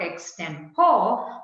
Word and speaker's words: extempore: any previous preparation an extempore it's not extempore but an extempore is the right pronunciation ex temporary is just